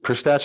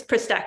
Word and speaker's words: Pristach: Is it Ms. Pristach? Am I pronouncing that correctly? It's Pristak, actually.